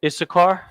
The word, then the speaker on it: Issachar: Last but not least, we have Issachar, which is pronounced Yash, Shah, and then Kar, so-called Mexicans. Glorious people. You understand? Yash, Shah, Kar, which is a Ka and a Ra. Always refer to the language here if you need help remember.